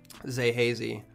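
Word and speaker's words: Xae Hazy: And then I had Zay Hazy, which is spelled X-A-E, Hazy.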